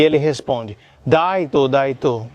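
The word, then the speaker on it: ライト: E no japonês, por exemplo, light, luz e right, direita ou correto, são pronunciados do mesmo jeito. Daito.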